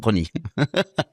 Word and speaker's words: Pronis: C'est pas ça, c'est que vous l'avez mal prononcé, le S ne se prononce pas. Vous voyez, tu dis des succès à l'année, toi. Jacques Prony.